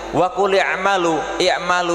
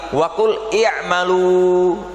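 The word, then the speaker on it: وَقُلِ اعْمَلُوا: Oleh karena itu, wa qul i'malu di sini itu sighah pelafalannya dengan sighah jamak, bukan wa qul i'mal, tapi wa qul i'malu.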